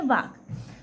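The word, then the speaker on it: walk: डब्लू ए एल के इसमें एल क्या है साइलेंट है इसलिए इसको हम बोलते हैं वाक तो मोहन हैज बीन वाकिंग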